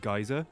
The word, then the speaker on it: geyser: play something up, I pronounce it geyser, but the Del Boy joke was already in there, and I realized it.